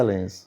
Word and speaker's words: Lens: Você estava lá na França, Lens, como é que a gente pronuncia? Pronuncia em francês Lens. Lens. Mas é Lens.